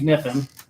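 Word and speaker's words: Kniffen: Okay, so our guest at the top of the show, James Niffen. K is silent.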